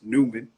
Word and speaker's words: Newman: it as the basis of how you actually pronounce my last name which is Newman and then took the bowels out and then